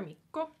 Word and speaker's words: Mikko: Right, and then we have another Mikko.